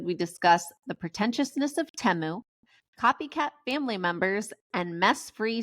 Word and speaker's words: Temu: nothing from the Super Bowl because you were mispronouncing it, and so were we the whole episode. So I know it's Temu.